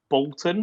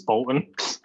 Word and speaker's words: Boulton: It is Bolton, right? That's the correct pronunciation. Yeah, I think technically it's Bolton, like you go down on the U, but I've never said that myself. It's Bolton.